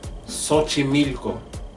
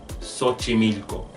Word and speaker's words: Xochimilco: I have found that it sounds like an S when we X starts a word not all the time